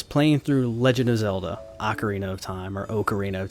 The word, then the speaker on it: Ocarina: when I was playing through Legend of Zelda Ocarina of Time or Ocarina of Time however you want to pronounce it not here to judge even though Ocarina is the proper pronunciation in my mind uh and everyone else